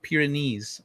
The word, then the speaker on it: Pyrenees: i watched the other star gate pyrenees it's pronounced pyrenees okay i in irish dublin is called the